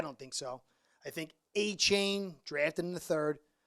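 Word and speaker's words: Achane: I think A-Chain, drafted in the third. Thanks, brother, for teaching me how to say his name properly. I was calling him Aiken.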